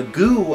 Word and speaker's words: GU: the same company uh goo I found out is what they want to talk pronounce themselves as um very aply named